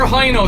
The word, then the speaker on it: Hino: of them of course i should be pronouncing it hino but everybody in ireland says hi no so he know i